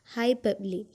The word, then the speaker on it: hyperbole: the sound ro is silent and we are pronouncing it as hyperbole hyperbole is a way of speaking or writing